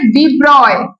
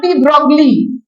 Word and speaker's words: de Broglie: তো প্রথম আমরা ওয়েভের আন্ডারে যেটা পড়বো সেটা হচ্ছে ডি ব্রয়, নট ডি ব্রগলি, ঠিক আছে? ডি ব্রগলি বলে কিছু হয় না, মানে বানানটা এরকম, তো